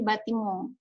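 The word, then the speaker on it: bâtiment: Pokoknya kalau ada N di belakang kata itu dominan kita lafalkannya dengan eng, ya. Jadi batimong. Seperti itu.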